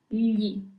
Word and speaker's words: gli: That's why it's pretty important to learn how to pronounce these words correctly. Li.